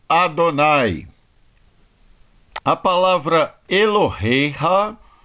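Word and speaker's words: יהוה: A próxima palavra é o tetragrama com o nome sagrado de Deus, Yud He Vav He, que nós pronunciamos como Adonai.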